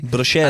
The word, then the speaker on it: bruschetta: That's actually pronounced correctly. Bruschetta.